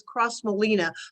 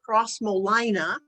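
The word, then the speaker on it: Crossmolina: room it is the i always pronounce this cross molina but they pronounce it crosmolina they are an irish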